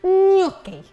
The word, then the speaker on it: gnocchi: Oh, it's a happy day because we're making one of my favourite foods, gnocchi. Gnocchi with a silent G.